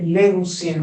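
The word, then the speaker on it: λέγουσιν: La OU, Omicron, Ypsilon se pronuncia simplemente como una U.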